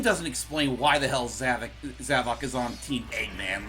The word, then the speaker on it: Zavok: It's funny we brung that up, but technically they don't even pronounce. They never pronounce it as that. It's just I don't know why we thought that it was like that at first. It's pretty much just Zavok.